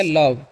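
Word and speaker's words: love: तो ओ का अ, भी से व, तो हो गया लव। लास्ट वाले का नहीं करते हैं, क्योंकि दो वोवेल आता है किसी वर्ड में, तो पहले वाले का उच्चारण होता है ओ का होगा, लास्ट वाले का नहीं हुआ, ठीक है।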